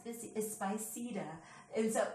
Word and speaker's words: Spiceda: people notice that spicy this X this is spicy de and so it's like I just didn't feel